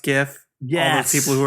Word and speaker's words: GIF: When I went to do something witty, somebody said something in a group chat, and I went to post a GIF in that group chat.